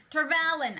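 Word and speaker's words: Tar Valon: Tarvalin. To go by Michael Reading or Michael Kramer's reading of it. I hate that pronunciation.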